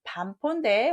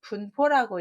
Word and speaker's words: 반포: 자, 이거는 반포인데 혹시 분포라고 읽진 않으셨나요? 까마귀 새끼가 자란 뒤에 늙은 어미에게 먹을 것을 물어다 준다. 부모의 은혜를 갚는다. 반포지어에서 온 겁니다. 분이라고 읽지 않게 조심하시고요.